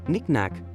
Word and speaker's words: knick-knack: quietly supporting our actions finally knick-knack brings a playful touch to our homes showcasing Little Treasures while the K remains unnoticed each of these words